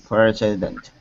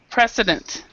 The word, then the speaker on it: precedent: start asking for s a president what is president precedent precedent that would be a trend um actually